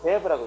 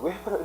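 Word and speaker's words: Weber: 독일 사람들이기 때문에, 이럴 때 이거를, 독일어는 W 발음이 V로 발음돼요. 그래서 이걸 베버라고 읽어요. 이걸 웨버라고 이러면 안 돼요? 웨버라고 이러면 안 됩니다. 베버라고.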